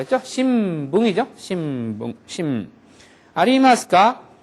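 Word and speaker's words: 新聞: 마바빠 앞에서는 미음 발음함이라고 했죠? 신붕이죠?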